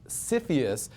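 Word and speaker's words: CFIUS: United States the acronym is the easy to pronounce cfus that's what we all talk about here in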